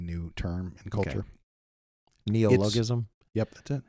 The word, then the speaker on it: neologism: Neologism?